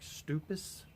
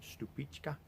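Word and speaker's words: Stupice: You know, you're not going to put it on a sandwich or anything, but it's spelled like Stupis, S-T-U-P-I-C-E, but it's actually called Stupichka.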